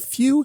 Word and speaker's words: Fu: We are in fact talking about Fu, pronouncing it Fu.